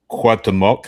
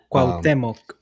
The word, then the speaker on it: Cuauhtémoc: By the way, just real quick, Cruz Azul is playing at the Estadio Cuauhtémoc. I think it's pronounced, but they're playing at Puebla. Cuauhtémoc.